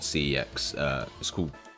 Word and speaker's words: CeX: And obviously CEX in England, we have a store called CEX. It's weird because it's pronounced sex, but yeah.